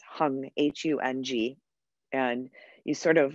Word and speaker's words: hung: sa sa say so hung and notice the hung is not drawn out when when snotum sings